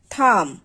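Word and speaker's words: thumb: যেমন শব্দের শেষে যদি এমবি থাকে তাহলে সেক্ষেত্রে শেষের যে বিটা থাকবে সেটাকে উচ্চারণ করতে হবে না বা সেটা উচ্চারিত হবে না।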